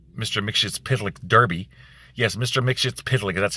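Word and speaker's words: Mxyzptlk: Mixshit's that's how you pronounce it.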